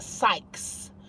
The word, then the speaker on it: Sykes: It's pronounced Sykes. It's SYKES. Sykes. Yeah.